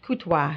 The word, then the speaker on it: Courtois: Courtois. Oh, My goodness. And nobody gets it right when they read it and No. pronounce it. no. No. Because the R is silent.